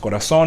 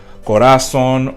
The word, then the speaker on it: corazón: Word ends with an N, then the vowel before it will have that accent, and it's going to be pronounced corazón instead of like corazón or relación or están.